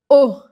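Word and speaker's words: eau: sab o que fazer o a palavra o se escreve e a u significa água que nem o que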